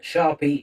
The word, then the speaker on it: Sharpie: can find him under Sharpie is here. That's uh Sharpie. S H A R P I E like the pen.